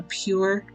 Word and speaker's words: PUR: I just bought a pure water filter. It's an 18 cup that I just keep in my refrigerator. PUR is how it's spelled.